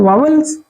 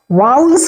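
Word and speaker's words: vowels: वावल्स उच्चारण थोड़ा सही नहीं है उतना, तो हम लोग हिंदुस्तानी हैं इसलिए अपने भाषा में पढ़ जाते हैं ना, तो इनको ये उच्चारण भी हमें ध्यान देना है। वाउल्स कहते हैं, वाउल्स।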